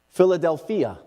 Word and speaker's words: Philadelphia: Philadelphia is actually how it's pronounced in the Greek.